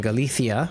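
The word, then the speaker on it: Galicia: episode at least they filmed it in Galithia. I will not relent. That's how I heard it was pronounced and that's how I will pronounce it.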